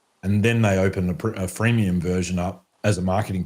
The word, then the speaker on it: freemium: And there are different ways to do freemium. So I think a lot of people just focus on the first syllable of that word and forget about the second syllable sometimes.